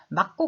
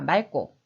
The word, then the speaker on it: 맑고: 진다 라는 규칙이 있습니다 그래서 이 발음은 막고 가 아니라 맑고 자 12번 률 미움의 이응